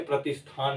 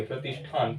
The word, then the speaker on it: प्रतिष्ठान: जैसे प्रतिष्ठान, ये दूसरी भाषा के तरीके से लगेगा, लेकिन शुद्ध रूप में आप इसे प्रतिष्ठान ही कहेंगे, प्रतिष्ठान, ठीक है।